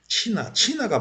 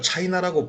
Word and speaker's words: CHINA: 친화를 밝히려고 그러는 거예요 치나가 뭐냐 지금 친화를 발음을 차이나라고 부르는데요 차이나가 아니에요 친합니다 왜 발음을 자꾸 엉뚱하게